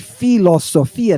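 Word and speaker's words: φιλοσοφία: starts out this word philosophia now I had one instructor from Arizona tell me this is really an aspirated P so it should be pronounced philosophia right but 99% of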